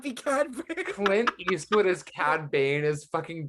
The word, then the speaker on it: Cad Bane: me with the Vader it's funny because it's CAD ban it's funny because it's CAD Bane not both of us having a it's like